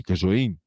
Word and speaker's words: Casoin: Qui da me, Bassa Trevigiana, si andava dal Casoin, con l'accento sulle i, Casoin, fino agli anni 70